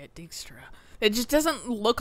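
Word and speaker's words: Dijkstra: for dextra dickstro that's how you say it dickstra it just doesn't look like that's how you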